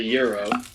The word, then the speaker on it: gyro: it's a euro. It's a euro. It's a euro, sorry. Euro, gyro, gyro. You gotta, it's pronounced euro.